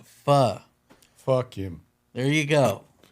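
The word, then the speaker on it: phở: And she said the pronoun the proper pronunciation is fa. She said the pronogra Is that what you were going to say? The proper pronunciation of pho is actually fa.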